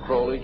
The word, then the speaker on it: Crowley: Aleister Crowley he likes to have his name pronounced croley to rhyme with bully and the statements today